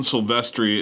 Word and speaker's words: Silvestri: want section the town Silvestri is pronounced like the character Sylvester see I did it